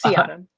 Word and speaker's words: Seahdom: out loud see autumn i always think is it say autumn or sea autumn so that's my first question it's sea adam see adam thank you i just